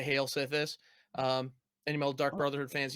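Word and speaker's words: Sythis: But Yeah, this time he played the, what was that, Slithis? How do you say that? Sithis.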